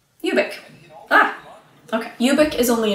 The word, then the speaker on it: Ubik: His name rhymes with the book title. It's funny. That's what it's called, right? Ubik.